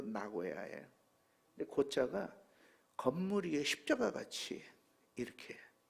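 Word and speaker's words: 名古屋: 나고야가 우리 발음으로는 명고옥이지만 1번 발음으로 나고야예요.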